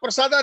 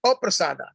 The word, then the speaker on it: aprasada: yasya prasadat bhagavad, yasya prasadat nagati kutobi, and by your mercy we cannot advance, because there's a mispronunciation. Yasya aprasada. It is aprasada, the opposite of not getting mercy.